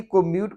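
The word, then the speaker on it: comb: है तो हम बी को म्यूट करेंगे और इसको हम पढ़ेंगे यहां देखें यहां पर बी है बी साइलेंट है कॉम यानी की गंगा करना बालों को और यह कलम इसमें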